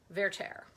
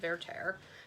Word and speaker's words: Werther: This week began with Werther. That is how you say it in the opera world. It, I guess, comes from the French, Werther. But I always say Werther because I learned it in college.